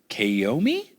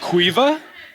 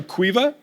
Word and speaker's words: Caoimhe: So this one is from, okay, I'm going to try, is it Kaomi? O'Shea? I'm so sorry if I butchered it. How do I say it? Okay. Quiva? Okay, but you spell it Caoimhe?